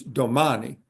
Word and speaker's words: domani: In Italian, it's domani. You stress the second to the last syllable.